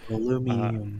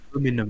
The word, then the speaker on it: aluminium: Aluminium. I will stand by that pronunciation. I mean, technically, I don't know why. It's like it's supposed to have an I at the end, right? Yeah, it's not just aluminum; it's aluminium.